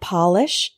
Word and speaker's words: polish: different perspectives moderate moderate next we have polish and Polish Polish means to make shiny